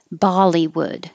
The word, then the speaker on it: Bollywood: d so weekend weekend bollywood the same as hollywood with a b and the first syllable vowel is ba bollywood excuse me wood this